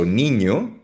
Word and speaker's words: niño: Ang N, familiar naman tayo sa N, ay parang NY, NY, so niño, bata, batang lalaki.